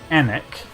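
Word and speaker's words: Alnwick: you catch on like i live in anec spells a-l-n-w-i-c-k that's on the river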